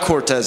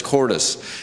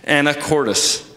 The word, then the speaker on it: Anacortes: I messed it up I said Cortez it's not Cortez it's quartus Anacortes right kinda okay um so